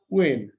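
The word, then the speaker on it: when: আর complex সেন্টেন্সে WH question, who, which, what, how, ওয়েন, উচ্চারণটা কিন্তু হোয়েন না, উচ্চারণটা হচ্ছে ওয়েন। এই ওয়েন, হোয়ার, এই সব কিছু পাই।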